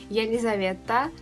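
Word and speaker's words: Елизавета: And yeah, that's right, but her Russian pronunciation of the name is going to be Yelizaveta, and her surname is Balkonskaya.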